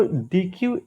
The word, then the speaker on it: deque: देखिए यहाँ का डी क्यू, यहाँ का डी क्यू अलग है, ठीक है। स्पेलिंग देख लीजिए, इसमें बस लिखा है DEQUE, ठीक है। तो डी क्यू एक प्रकार का क्यू